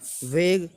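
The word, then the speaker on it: vague: तो देखो जी यू ई को नहीं बोलेंगे, तो साथ काम करने वाला होता वेग, इसको भी यू ई को नहीं बोल रहे हैं।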